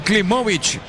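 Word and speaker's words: Klimowicz: Klimovic está bien pronunciado, Víctor. Klimovic. Así es, como si fuera corta la W al final.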